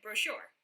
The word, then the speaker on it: brochure: Brochure doesn't rhyme. But it does when I say it. Brochure.